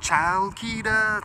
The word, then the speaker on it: Chalkida: Al Queda it's like it's like child kita song kita it's like spelled with a CH but it's like silent as